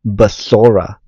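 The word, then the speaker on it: בשורה: So how to say the word gospel in Hebrew is basora.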